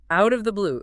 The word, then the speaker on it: out of the blue: Link it all together. Out of the blue. It sounds like one long word.